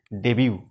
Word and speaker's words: debut: DEBUT, বন্ধুরা উচ্চারণটা ডেবিউ।